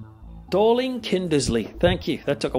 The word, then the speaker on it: Dorling Kindersley: in the movies from dolan kimberly kinder see I just pronounce that DK darling kinder Lee let me check this out hang on no this is it's probably the most famous Dorling Kindersley thank you that took